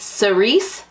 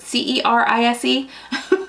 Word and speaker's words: cerise: picked okay is it Cerise pink is that how you pronounce that word c-e-r-i-s-e Cerise pink but basically a nice